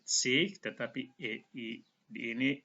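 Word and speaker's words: zwanzig: Kalau bahasa Jerman dipakai akhiran sich. Ini cara bacanya sich. G itu dibaca seperti H, sich.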